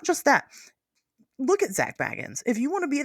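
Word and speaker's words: Bagans: I learned how to say his name. Baggin. Um, everybody says Baggins. It's fine.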